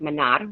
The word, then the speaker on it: Manar: introduce you all to Manar. I just learned today that her name is actually pronounced Manar with a rolled R. That is the way it is. That's the Arab way to actually pronounce it.